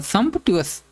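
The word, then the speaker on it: sumptuous: समटस। इसको यही तो साउंड बोलेंगे। इसका प्रोनाउंसिएशन क्या होगा? सम ट्यूस वेल्थी।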